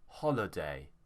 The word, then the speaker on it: holiday: Here, the stress is on ho, so it won't be holiday, it will be holiday.